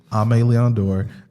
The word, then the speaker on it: Aimé Leon Dore: We've talked about Aimé Leon Dore, which a lot of people don't know how to pronounce. Yeah. Aimé Leon Dore.